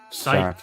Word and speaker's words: Psych: Psych. Not sick. It's one of those weird spelling words. P S Y C H. That's how you actually spell it. It's not weird. Follow me. You're supposed to be the brains of this operation. The silent P or a silent.